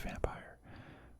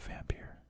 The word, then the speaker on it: Vampyr: But I'm pretty sure it's pronounced Vampire, but I call it Vampyr. I'm gonna keep calling it Vampyr.